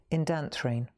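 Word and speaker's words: Indanthrene: Indantrine blue. All right, number 247. Indantrine blau. It's not Indian. It looks like Indian, but it's not. Indantrine.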